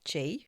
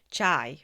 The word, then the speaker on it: chi: Best described as essential energy aka chi. I always want to say chai because it's ch hi, but it's chi that rhymes with ti.